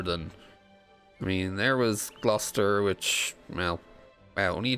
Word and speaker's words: Gloucester: Worcester and Gloucester. It's Worcester and Gloucester. How the fuck can you not pronounce them properly?